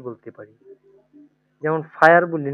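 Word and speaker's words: Feuer: তাহলে হচ্ছে এখানে উচ্চারণ হচ্ছে কি? ডয়েস, হ্যাঁ। তারপরে আমরা আরেকটা কি বলতে পারি? যেমন ফায়ার বলি না ইংলিশে আমরা, এটা এফ হচ্ছে আই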